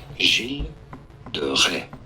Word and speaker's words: Gilles de Rais: For reference, it is said as Gilles de Rais. Gilles de Rais. Gilles de In Rais. English, it is usually said as Gilles, silent S, de Rais. Gilles de Rais.